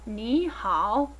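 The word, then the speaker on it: 你好: This 2nd tone that you see and hear when pronouncing ni, as in ni hao, is also known as the rising tone.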